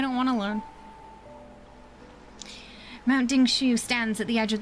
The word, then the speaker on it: Dingshu: Dingshu? Okay, that's how we pronounce it.